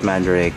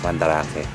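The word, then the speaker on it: Mandarake: or they call it mandaric but uh from what I know it's pronounced pandarake because it's in Japanese so if you want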